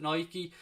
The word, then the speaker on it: Nike: Nike or Nike I'm sure I'm supposed to pronounce it Nike about to become the club's kit manufacturer from